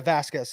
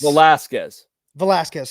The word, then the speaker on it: Velasquez: Not a Vasquez side. Vasquez needed some guidance. Rich Hill didn't. Like, and I think that's Velasquez. Sorry. That's an important middle syllable, brother.